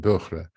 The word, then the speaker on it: Böhrer: man for him to record for me how to pronounce this name. And he recorded that and sent me an audio file saying Böhrer.